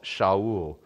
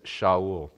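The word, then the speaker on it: שאול: the way fascinating the the Hebrew pronunciation for Saul is shaol and it's fascinating that it doesn't actually come across we just translated it transliterated it Saul technically his name is shaol so Kish said to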